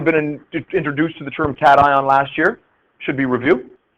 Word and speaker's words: cation: The reason it's pronounced cation is because it comes from the term cathode.